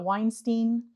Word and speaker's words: Weinstein: I'm here with Weinstein.